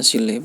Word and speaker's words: 실내: 실내 itu bacanya 실내, enggak pakai T ya.